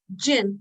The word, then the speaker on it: jinn: the jinns the yeah how you pronounce it gin you can call it gin okay the gyms so